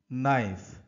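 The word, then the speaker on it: knife: কি তো নিয়মটা হলো ওয়ার্ডের প্রথমে যদি কে থাকে এবং তারপরে যদি এন থাকে তাহলে ফাস্টের যে কে লেটারটি সাউন্ড সেটা সাইলেন্ট লিখে পড়তে হয় তো সেটা আমরা এখন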